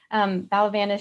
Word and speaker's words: Valavanis: So Jill Valavanis, sorry, I always pronounce her last name wrong. Valavanis, she created these sewn